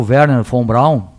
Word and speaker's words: Werner von Braun: Então o seu Werner von Braun, e o W tem som de V, porque hoje todo mundo